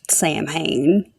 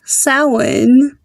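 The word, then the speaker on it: Samhain: blanket statement here there is no demon Named Sam Hayne there's no deity called Sam Hayne nor that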